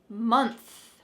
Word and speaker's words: month: th word number one month month notice what my tongue is doing at the end of this word it's out between my teeth and there's some lovely air streaming out month can you say